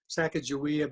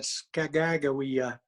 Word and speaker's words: Sacagawea: life and contribution of I can't say it correctly, not Sacagawea, but Skagagawea.